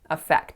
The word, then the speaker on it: effect: effect effect so here instead of making it schwa winner I put that stress on that first syllable and I made it an ass sound so I said effect but I should have said effect and then the final